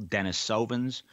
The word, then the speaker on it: Denisovan: Some people call those ancient people Denisovans. Others call them Denisovans. Andrew and I prefer Denisovan.